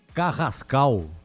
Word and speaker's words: Carrascal: Vocês me corrijam, por favor, a pronúncia. Carrascal.